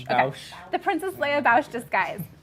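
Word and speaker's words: Boushh: Bausch. Bausch. Okay. Bausch.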